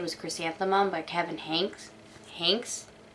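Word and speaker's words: Henkes: chrysanthemum by kevin hanks hanks hinks it's like hank but spelled with an e anyway if you couldn't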